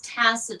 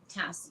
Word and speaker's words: TAS: to let you know everybody mispronounces it it's so funny it's Tassa terrarium Tassa okay Tassa yeah Tassa terrarium I'm not exactly